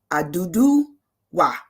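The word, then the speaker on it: Oduduwa: It's Oba Adudu Wa. Odu Abaduda. Oba. I'm gonna say his name right. Oba Aduduwa. There you go.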